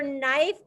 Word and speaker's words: knife: words were over it same for knife don't forget that silent k isabella ankol make that